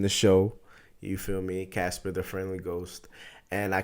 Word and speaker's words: Ka$pa: guest the first interview in my show welcome casper the one and only straight out of new